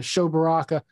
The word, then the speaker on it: Sho Baraka: uh further ado uh show baraka the author of he saw that it was good did i get that right you got it right my friend my name pronunciation and everything so we're already on